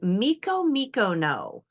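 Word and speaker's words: Micomicona: Okay, so now we need a couple more words for the pronunciations before we read the next section. We have Sierra Morena and Miko Mikono.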